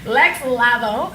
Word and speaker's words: Lex Lavo: So let me introduce Lex Lavo. Am I saying it right? Yes. Did I put like the Spanish little touch to it? Nah, you did. I was calling you Lex Lavo for mad years, and then like that's Lava, right?